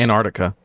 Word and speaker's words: Antarctica: It's Antarctica. It is, yeah. The sea is silent unless you're talking about the Arctic Sea or the general Arctic region.